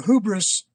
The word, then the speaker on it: hubris: um and you are hubris uh see i'm using the american pronunciation uh but this is